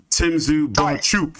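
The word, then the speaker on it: Bohachuk: Boachuk, excuse me, that's how he wants his name pronounced.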